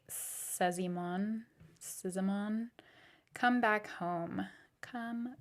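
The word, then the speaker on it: Szymon: come back home by no idea how to pronounce this s z y m o n kind of looks like Simon Simon come back home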